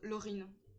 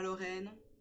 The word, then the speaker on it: Laurine: Voilà, donc Laurine. Voilà, pas Lorraine, c'est Laurine.